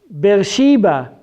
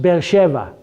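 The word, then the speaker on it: באר שבע: pronounced the same way bill sheba is actually in hebrew pronounced bell Sheva and bell Sheva means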